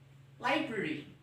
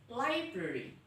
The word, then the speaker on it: library: Oke, cara bacanya library. Library. Jadi karena R-nya di tengah-tengah jadi ya library, sedikit samar tapi di tengah, library.